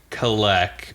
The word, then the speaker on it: Kalak: So what we see in the prelude is these two men, Kalek and Jezrien, or Kalak and Jezrien. How do they pronounce it in the audiobook? They say, so they say Kalek for the most part, but also the names